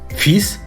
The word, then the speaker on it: fils: клафіс Ілля твафіс ми правильно озвучили слово сини фіз і у нас вийшла фраза У нього є